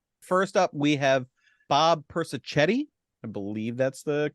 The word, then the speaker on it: Persichetti: First up, we have Bob Persichetti. I believe that's the correct pronunciation.